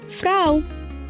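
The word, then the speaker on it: Frau: الحرفين دول ههم بقى الا او الا او مع بعض ننطقها او او زي كلمه فراو فراو او زي كلمه اوخ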